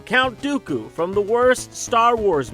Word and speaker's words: Dooku: the white and the rhymes with poopoo count dooku from the worst star